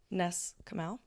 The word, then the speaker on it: Ness Comeau: Ness Comeau.